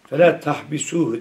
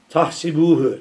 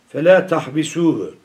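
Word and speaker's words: فلا تحبسوه: Tahsibuhu, tahsebuhu gibi okunuyor, tamam mı? Orayı düzeltin. Fela tahbisuhu.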